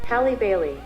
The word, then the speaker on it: Halle Bailey: Halle Bailey.